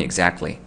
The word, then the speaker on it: exactly: 그냥 먹는 거예요 여기로 여기로 먹는 거예요 그래서 발음이 exactly 이렇게 되는 거죠 야 문제 해결했다 라이브로 해결했어